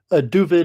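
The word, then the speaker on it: Dovid: thanks foran great pleasure duid is just a Yiddish pronunciation of David David DED and they're all basically the same but the pronunciation slightly different and you know on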